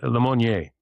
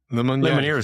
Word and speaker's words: Lemonnier: Yeah, Lemonnier. Lemonnier. That's how we'd say it in the Midwest. We'd say Lemonnier. But Lemonnier, yeah.